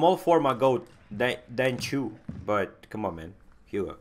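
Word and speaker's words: Qiu: The Q for Chinese name is pronounced like a chew.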